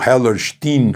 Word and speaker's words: Hellerstein: O juiz se chama Alvin Hellerstein ou Hellerstein, como os americanos pronunciariam, né?